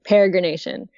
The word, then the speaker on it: peregrination: of have to like think of like maybe like a peregrine falcon and then the word nation so peregrine Nation peregrination it's it's easier once